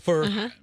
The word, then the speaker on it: Pho: back Pho you know p-h-o in Vietnamese is pronounced right for it's the the noodles the pho you got